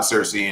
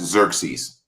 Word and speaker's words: Xerxes: rip from the god Cersei in Greek and Roman mythology. The God King. And just real fast, I didn't pull the picture because I ain't. And you're pronouncing that wrong. That's Xerxes.